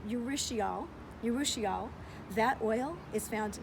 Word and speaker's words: urushiol: The oil in the poison ivy, and I know it's pronounced, not exactly sure, it's urushiol.